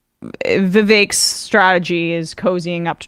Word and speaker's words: Vivek: I guess Trump and Vivek rhymes with cake Ramaswamy have a bit of a bromance brewing.